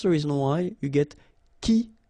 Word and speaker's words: qui: So the idea is that this combination of Q and U together will give you the sound K, okay? So that's the reason why you get qui like that, qui, quitter, all right?